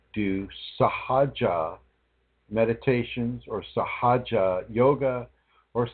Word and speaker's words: Sahaja: anyone, do not do sahaja meditations or sahaja yoga or sahaja kundalini. Do not do this. Okay. Sahaja is spelled S-A-H-A-J-A, I believe. Sahaja. Or any spelling that resembles that.